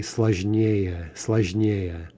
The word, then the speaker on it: сложнее: Сложный, okay, that's two syllables, so we're going to expect this to have stress on the yeah ending. Сложный, complicated, more complicated would be сложнее.